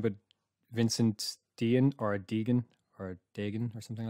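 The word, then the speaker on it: Deighan: g h a and in parts of ireland that would be pronounced deegan or d in so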